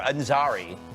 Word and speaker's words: Ansari: Ansari? I never had to pronounce his name before. Ansari.